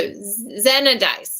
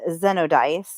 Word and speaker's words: Xenodice: Okay, well, this says it's pronounced Z-E. Okay. And then no. And then dice. Dice. So Xenodice. Xenodice. Which doesn't sound nearly as nice. And then they also have the other one of Zenodice.